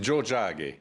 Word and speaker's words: Tiohtià:ke: Michel Jean oui bonjour On dit Joe Jack voilà donc effectivement c'est Montréal voilà c'est la traduction de Montréal donc vous dites comment on dit Joe Jack voilà il y a